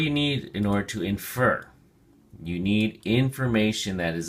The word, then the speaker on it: infer: look at your flashcard infer has two syllables and the emphasis or stress is on the second syllable infer infer it is only a